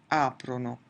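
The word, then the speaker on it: aprono: Notice that in the 'lore' form in none of the conjugations will we ever have the emphasis on the ending itself. It's always going to be before the ending so it's COM-prano, PREN-dono, AP-rono.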